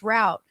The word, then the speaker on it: Rout: route as in p-a-p-e-r-r-o-u-t r-o-u-t is my last name no e at the end it's pronounced route so that's like yeah